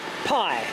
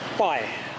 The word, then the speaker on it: Pai: fat herd this is the town of Pi pii pronounced by I believe there's Mrs wbat and